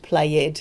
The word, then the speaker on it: played: Played, it's got 1 syllable, not 2, played, no.